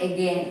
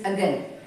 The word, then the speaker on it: again: Okay, we say again. It is not again, it is again. Now it will start with this symbol, again, ago.